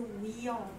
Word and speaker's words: wheel: 所以后面不发音是 wheel wheel wheel wheel 很好。